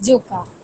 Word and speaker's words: Joka: guys do in general in Rotaract Club of Joka. Is it Joka? Am I pronouncing it right? Yes, it's Joka.